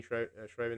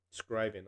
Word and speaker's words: Scriven: only window base driven hello Shane shriven how you doing it's only scriven I'm sorry I say